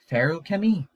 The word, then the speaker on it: Feruchemy: one here and also it's pronounced like pharaoh chemi barrel kimmy brandon sanderson